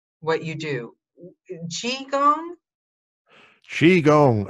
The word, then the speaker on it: qigong: pronounce what you do chi gong chi gong it's spelt q-i-g-o-n-g and it's pronounced chi gong or chi-gong and what